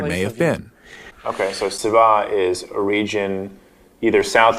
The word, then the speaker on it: Seba: think is related that has just a different S sound, Seba.